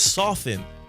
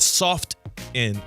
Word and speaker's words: softened: It is softened. Softened. When I say softened, I like to say softened, not soft in. Softened. Like the T is silent.